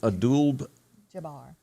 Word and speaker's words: Abdul-Jabbar: of all time kareem abdul jabbar him has a birthday today all right kareem abdul how how do you say that middle name kareem abdul-jabbar abdul like paula abdul okay yep some of